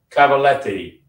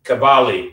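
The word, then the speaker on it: Cavalli: 87 years old Roberto Cavaletti I'm not no there's no T in there cavali yes cavali Italian pronunciation Roberto cavali I should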